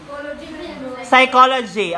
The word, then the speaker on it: psychology: Next question number two psychology Okay psychology silent letter P Okay psychology silent letter